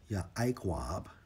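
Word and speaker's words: יעקב: In the Hebrew, Strong's H 3290 pronounced as Yaakov, right?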